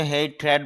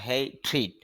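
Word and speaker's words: hatred: বাংলা অর্থ হবে ঘৃণা হেই ট্রিট যদি হেই ট্রেড বলে শুদ্ধ উচ্চারণ হবে হেই ট্রিট ঘৃণা বা বিদ্বেষ হ্যাব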